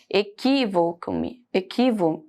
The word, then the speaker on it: equívoco: Equívoco-me, equivoco-me. Não, perdão, equívoco, tá? O equi é mais forte.